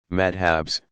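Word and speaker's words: madhhab: Students in a madrasa, pronounced madrasa, pursue a curriculum built around the teaching of one of the legal methodologies, madhabs, pronounced madhab, and eventually receive credentials, a kind of license, as professional religious scholars.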